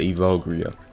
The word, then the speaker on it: Evogria: This was how they told me how to pronounce it, so I'm gonna just call it Evogria.